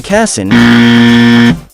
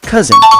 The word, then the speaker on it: cousin: of the second syllable remember to pronounce it with a z not s so instead of saying cassin you say cousin don't get caught